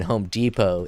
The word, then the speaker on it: Depot: The T in Home Depot is silent because in the language of French, T's at the end are silent.